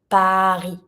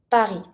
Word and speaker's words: Paris: To say Paris, we say Paris. Paris. And when we say Paris, we don't pronounce the S.